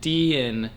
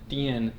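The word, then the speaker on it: Dehen: So, that's how you pronounce it. Deian. Deian.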